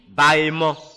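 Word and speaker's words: Baemon: Amaïman s'écrit A-M-A-I-M-O-N. A-M-A-I-M-O-N. Amaïman. Et l'ouest est dirigé par le démon Bahéman.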